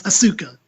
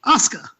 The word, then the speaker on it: Asuka: Because every time I look at it, it's Asuka. In my head, it's Asuka because that's how it looks like it should be phonetically spelled. Then Sarah Boy, said something like, it's like Oscar the Grouch, Oscar.